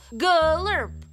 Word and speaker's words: gurp: venusians say gurp gurp no you have to stress the first syllable gurp gurp I don't want